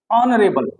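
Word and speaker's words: honourable: ऐसे ही ऑनरेबल एक होता है, ऑनरेबल। ऑनरेबल में भी क्या होगा, एच साइलेंट रहेगा। अगेन यहाँ साउंड किससे आएगा, आ से ही आएगा, ऑनरेबल। तो इससे पहले भी क्या लगाओगे, एन।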